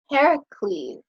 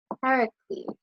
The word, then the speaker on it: Heracles: Heracles. Heracles. So, in our English, we say Hercules, but in Greek, it's Heracles.